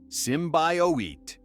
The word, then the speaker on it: symbiote: The teaser in February 2018 was criticized for not showing Venom, but the August trailer revealed him, sparking debates on symbiote pronunciation. It's Simbowit.